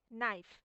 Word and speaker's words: knife: फिर ये नाइफ, यहाँ एक के सामने है, लेकिन के तो साइलेंट रहता है, बाकी आधा ही उच्चारण है।